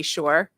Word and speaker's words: Shore: So for those people I haven't met before, my name is Shore. It rhymes with entrepreneur.